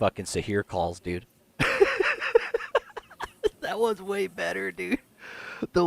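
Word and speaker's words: Saheer: hear you okay okay my name is sahir s-a-h-e-e-r so here so here at Alabama no no no s s for Sam a for apple 8 for hotel so here s-a-h-e-e-r it's spelled with two e's Tom get it right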